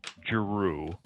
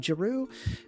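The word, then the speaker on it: Giroux: Henry Jaru. G I O U R O U X. Oh, I can't spell it.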